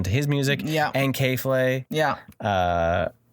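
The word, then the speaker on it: K.Flay: his music yeah and k-flay yeah uh like sure however you say her name k dot f-l-a-y it looks like k-flay yeah so um it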